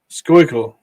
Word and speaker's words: Schuylkill: How do you say that? Schuylkill Punch? Schuylkill Anglers? Schuylkill. That's right. So congratulations.